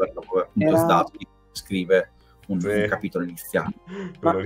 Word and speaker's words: Zdarsky: Ma anche a pronunciarlo, io tuttora non ho capito se la D la devi pronunciare o meno, però... Vabbè. No, io non la dico, io faccio tipo Zdarsky, però cioè, mi esce...